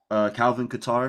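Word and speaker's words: Calvin Kattar: Calvin Qatar.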